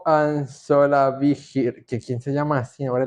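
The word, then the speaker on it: Ansolabehere: Germain y este apellido, tú puedes pronunciarlo como Joe Anzola Vigir.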